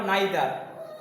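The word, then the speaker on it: neither: নাইদার, নিদার উচ্চারণ করা হয়, নিদার বা নাইদার যা বলো। হয়েছে? নিদার এটা উচ্চারণ করা হয় কি? নিদার বা নাইদার, দুটো রকম উচ্চারণ আছে।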